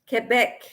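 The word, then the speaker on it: Québec: again to whatever yeah Quebec in French that's how you pronounce it Quebec uh-huh okay so now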